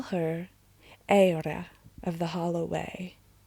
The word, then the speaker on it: Eira: I call her Eira of the Hollow Way. That's how you say it in Portuguese. But in English, it would be Eira.